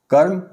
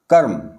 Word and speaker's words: कर्म: लगाया गया है अर्थात जिस वर्ण के ऊपर रेफ्रा लगा होता है इसका उच्चारण उस वर्ण से पहले होता है जैसे उदाहरण देखें यहां इसको समझने के लिए यह है कर्म कर्म का का का के बाद र का उच्चारण है और यह इसके आगे जो म है उसके ऊपर लगा हुआ है इसी तरह से धर्म